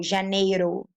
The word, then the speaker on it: Janeiro: It's like Spanish. It's like ra, ro, re, ri, ro. So Janeiro.